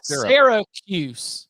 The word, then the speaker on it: Syracuse: need a podcast Sierra I've always gone but even like Sarah like syrup not Seer yeah Syracuse yeah Syracuse yeah there's there's got you got to respect the why okay it's not Syracuse you got to give